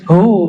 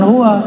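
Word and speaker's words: هو: Hu, bacanya hu, jangan huwa, kecuali disambung.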